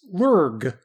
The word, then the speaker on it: LIRG: luminous infrared Galaxy which astronomers often abbreviate and pronounce as lurg lurgs are defined as